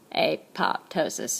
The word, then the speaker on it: apoptosis: We call this is a process of programmed cell death called apoptosis. And actually, the phonetic pronunciation of that would be apoptosis. It's exactly what it sounds like.